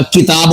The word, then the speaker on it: کتاب: ہوتا، مسجد ہوتا ہے۔ ہم بول دیتے ہیں کتاب، کتاب، کتاب تو نہیں ہوتا، کتاب ہوتا ہے، کاف کے نیچے زیر ہے۔ اسی طرح ہم بول